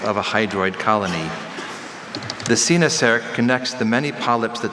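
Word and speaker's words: coenosarc: Sinasark, Senasark, Sinosark.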